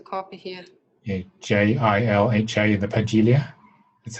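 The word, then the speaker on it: Pagilha: So, but you stay with the J sound though. Yeah, as a spell there is no J, but just on the phonetical one, as you think, yeah, Pagilia, yeah. Because we pronounce the D in a kind of G, kind of J way in Portuguese.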